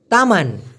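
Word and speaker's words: teman: কিন্তু কাতা মানে ব্যাং তামান তামান মানে হচ্ছে বাগান তামান মানে কি বাগান আরেকটা হচছে তেমান এম এন উচ্চারণটা হবে তকার ম আকার ন এই তেমান মানে আবার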